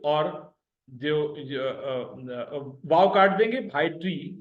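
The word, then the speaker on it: ڀائٽي: भे और अलिफ उसी तरह से जबर के सुर के साथ मिले हुए, हमजा और ये जबर के सुर के साथ मिले हुए, टे और ये जेर के सुर के साथ मिले हुए। भा एक हिस्सा, ए दूसरा हिस्सा, टी तीसरा हिस्सा, BHAA भा, एपोस्ट्रॉफी यानी पॉज आया, AEY दूसरा हिस्सा, TI तीसरा हिस्सा, भाई टी यानी भतीजी यानी नीस।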